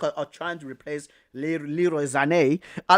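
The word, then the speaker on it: Sané: antics that Le Lero Sane does right are mad but I I just like the way like like the Germans pronounc his freaking name Lero Zane Zane we say Sane but Zane right um even Spurs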